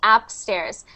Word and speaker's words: upstairs: Barbara next one upsters instead of app like app because it does not say app right it does not say upstairs we want this to sound like up uh up up up